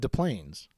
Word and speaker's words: Des Plaines: Well, because you don't say the S in Illinois. So No. like, why would I say the S in Des Plaines? It's Des Plaines.